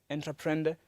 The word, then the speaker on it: entreprendre: Now, the word entrepreneur itself is probably derived from a French Latin word, which is pronounced, I believe, entreprendre, which means to undertake.